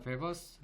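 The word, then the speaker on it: Weber: 자 베버스 la 자 이게 독일어식으로 베라고 읽고 독일 사람이랑 law는 con the perceptional difference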